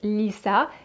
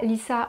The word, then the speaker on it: Litha: Alors l'Ita, en réalité, ça se prononce Lissa. L'Ita, Lissa, on ne va pas